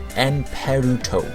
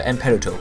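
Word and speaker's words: エンペルト: And this time, its Japanese name is actually written Emperte, but it's pronounced Emperuto. So Emperuto. It's a bit weird, but this is how the Japanese pronounce their words.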